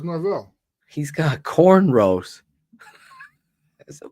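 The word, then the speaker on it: Norvell: his name coach norl Norwell how do you say his name is it isn't isn't Forida State coach Norville Norville yeah I thought it was Norville he's got cornrow as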